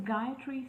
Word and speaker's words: Gayatri: This is Gayatri. My name is pronounced just like a guy standing under a tree.